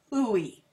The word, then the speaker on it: WHOI: I think it's all just one big hooey, just like it's spelled, W-H-O-I, hooey.